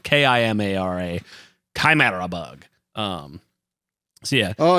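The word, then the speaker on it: Kimara Bug: It's spelled wrong. Kimara.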